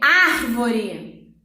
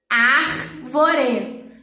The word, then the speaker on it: árvore: Árvore. Árvore. Veio uma consoante depois e uma vogal antes. Então, ele veio precedido de vogal e sucedido de consoante. Então, o R é forte mesmo estando sozinho.